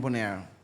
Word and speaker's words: Bonaire: yeah, that's Bonaire.